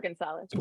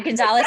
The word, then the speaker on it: Gunsaullus: Gunsaullus. Gunsaullus, because it's not written like that.